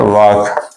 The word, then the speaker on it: walk: इसके बाद है वॉक, WALK। इसमें जो L है ये साइलेंट की आवाज नहीं, इसकी साइलेंट है।